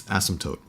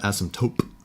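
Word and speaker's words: asymptote: It's asmmptote. It's not asmtope. It's a it's a te there at the end.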